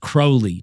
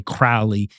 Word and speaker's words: Crowley: So we know holy is going to rhyme with Crowley.